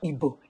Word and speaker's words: Igbo: Oliver has been teaching me little Igbo. It is not Igbo. It is Igbo.